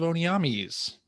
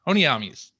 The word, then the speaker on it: Onamis: Greg mispronounce wings of onamis oh is that how you say that you said it like onam or I was like I think I said onam say no that's incorrect onamis uh but anyway other